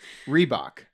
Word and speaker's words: Reebok: with Brands okay rebook is it rebook how do you guys pronounce the brideberry book rebook are you asking me to read a book no the brand rebook rebook three books I don't know how to say it Reebok okay Reebok you see that it's